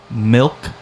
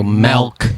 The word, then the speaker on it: milk: I have to really think when I say it to have the milk, because I always want to revert back to how I learned it, which is like the animal with antlers, an elk. We say milk.